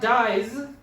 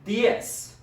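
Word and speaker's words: diez: upon reading it but it's d i e z so it's not dies is dias di s the z is not making the z sound it's making kind of an s sound so okay now say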